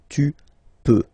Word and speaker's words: peux: Then tu peux, same pronunciation and same spelling or writing. Okay, P-E-U-X. Okay, don't pronounce the final X. Tu peux.